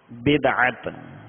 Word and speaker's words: بدعت: اس کا درست تلفظ بدعت، اس کے لغوی معنی ہے نئی چیز، نیا، انوکھا ایجاد کرنا.